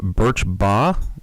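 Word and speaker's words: Birch Bayh: cannot be sued uh brought sponsored by Senators bur B is how you say it of Indiana I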